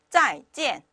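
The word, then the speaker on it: 再见: 그리고 나서 제가 요거를 읽어보니까 짜이젠 이렇게 발음을 합니다. 다시 한 번만요. 짜이젠 이렇게 발음을 해요.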